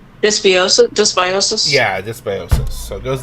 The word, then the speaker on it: dysbiosis: Dysbiosis?